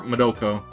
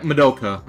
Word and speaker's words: Madoka: Or Madoko. Wait, was it Madoko or Madoka? Hang on. Yeah, Madoka. Okay.